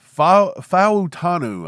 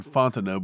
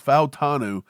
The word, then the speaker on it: Fautanu: Fautanu from Washington, Fautanu, I think is how he pronounces it. I keep saying Fontano, but it's Fautanu from Washington.